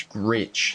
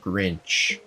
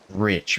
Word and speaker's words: Gritch: It's Gritch, not Grinch. I have literally always said that wrong. I did not notice that until you said it right now. Gritch. It's Brandon Gritch, not Brandon Grinch.